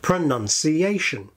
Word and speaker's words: pronunciation: In English, the word pronunciation contains five syllables. Pronunciation.